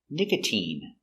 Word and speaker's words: nicotine: But you have words like nicotine where the sound is e, a long e sound, nicotine.